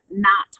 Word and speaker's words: knot: So notice that Philadelphia has 2 PHs that say the sound of Phillies, and then we have knot hole that makes the N sound but is spelled with a KN.